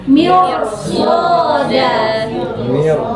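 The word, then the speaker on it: مِرْصَادًا: Nah, tetapi karena ada huruf istilah berharokat bukan kasroh. Apa di sini harokatnya? Fathah. Berarti bukan kasroh. Berarti dia wajib dibaca tebal. Apa bacanya? Berarti mirsoda. Susah kan ro sukun kalau dia tebal?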